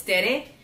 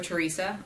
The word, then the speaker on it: Tere: In all actuality, it's Tere, which is short for Teresa. I go by Terry a lot because it's just easier for some people to pronounce.